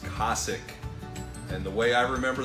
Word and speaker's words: Cosaque: all right boys the debate is over it's pronounced Kasich and the way I remember that is the